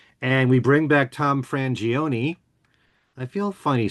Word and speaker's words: Frangione: In Italian, you pronounce every letter.